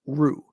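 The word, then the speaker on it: روح: The Arabic word here is ru or lru in this case. That's ru with an h sound at the end, which probably didn't come across.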